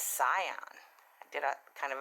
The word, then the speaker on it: cyan: I mean, for the longest time, I was pronouncing cyan wrong. My 13-year-old grandson had to correct me, because I was calling it cayenne, like cayenne pepper. But I said, Grandma, it's cyan.